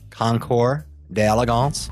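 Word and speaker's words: Concours d'Elegance: excellent yeah that is that again the correct pronunciation concore d'Elegance if in La Jolla California and mr.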